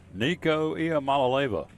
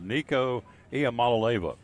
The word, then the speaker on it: Nico Iamaleava: Nico Iamaleava. I got it right, didn't I? Yeah, there you Look go. here, I phonetically wrote it out. Nico Iamaleava.